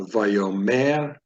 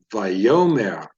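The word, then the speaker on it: וַיֹּאמֶר: pronounce this word the stress is placed right here in the second syllable if the diet critical marker right beneath the yode so it's not vayomer it's a vayoma Adonai stresses in the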